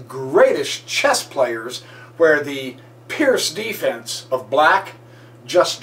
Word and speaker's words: Pirc: such an amateur and miss calling it perk it's Pierce or Pierce see even we amateurs